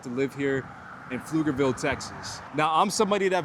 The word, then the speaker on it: Pflugerville: Commonly mispronounced, the suburb that we're filming in today is called Pflugerville.